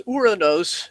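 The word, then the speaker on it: οὐρανός: joke about Uranus uh but it's uranos in Greek I like that pronunciation better and I believe it's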